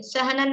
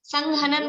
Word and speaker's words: सहनन: देखिए, सहनन नाम कर्म। सहनन किसे कहते हैं? सहनन शब्द है ना, संघनन बोलते हैं कुछ लोग, संघनन वो प्रोनाउंसिएशन मतलब ठीक नहीं है। सहनन, सहनन है शब्द।